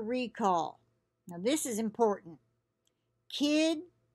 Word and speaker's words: Kidde: Kidde, I'm saying it Kidde. It's capital K-I-D-D-E. I wouldn't pronounce it any other way, but it could be Kidde. It's probably not Kitty. Okay, so we'll say Kidde.